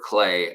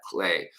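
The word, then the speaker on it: Klee: highly, and that is Dr. Albert Clay, or Clay, as actually how he would pronounce it. So let's say that, Clay.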